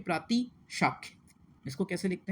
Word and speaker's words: प्रातिशाख्य: ठीक है, तो उच्चारण को महत्व दिया जाता है शिक्षा में। और इसी में एक चीज़ होती है प्रातिशाख्य।